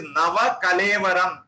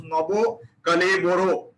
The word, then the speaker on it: Nava Kalevaram: It is Nava Kalevaram. Nava means new, Kalevaram means body. When it goes into Odisha and Odia and Bengali, it becomes Nabo Kaleboro. That is how they pronounce it.